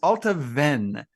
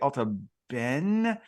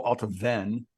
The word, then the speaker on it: Allt-a-Bhainne: Distillery 108, which is Allt-a-Bhainne. That's how I say it. Some people say Allt-a-Bhainne. It's ALLT-A-BHAINNE, and the BH, like in Bunnahabhain, is a V sound. So I would go Allt-a-Bhainne if I was pronouncing it.